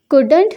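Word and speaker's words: couldn't: उसका हस्बैंड पति कुडंट नहीं कर सकता था, ये नॉट है, ये इस तरह लिखा गया कॉमा लगाकर, ये कुड है, इसमें एल के बाद साइलेंट है, कुडंट नहीं कर सकता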